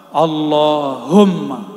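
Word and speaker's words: اللهم: bergetar itu zikir Allahumma coba sama-sama baca allahum yang benar bacanya sama-sama Allahumma lagi Allahumma Allahumma itu bulu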